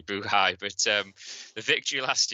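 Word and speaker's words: Buhai: uh b-u-h-a-i okay uh I'm going for buhay somebody goes for buhari but I'm gonna go for Ashley buhay but um the victory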